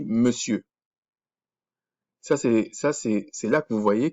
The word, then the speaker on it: monsieur: Vous allez voir, ça s'écrit monsieur, mais ça se dit monsieur.